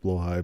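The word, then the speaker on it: Blåhaj: Blowhai. Is blowhai you're you're trying to pronounce? I I prefer blah blah blah. Anyways, I I I did too at the beginning, but apparently it's pronounced blowh high.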